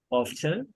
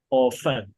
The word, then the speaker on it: often: Like there are two ways to say this word. You can say either often or you can say often. Often. How do you pronounce it? Often or often? Often. Either is correct. Dekama hari. I prefer often, but often is also okay.